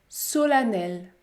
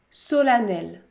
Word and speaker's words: solennelle: patiemment la lettre e se prononce également à dans quelques autres mots c'est beaucoup plus rare comme dans le mot femme femme solennelle solennelle par exemple si la